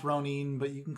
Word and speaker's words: ronin: you haven't pledged yourself uh i mean it's pronounced ronin but you can call whatever although 47 ronin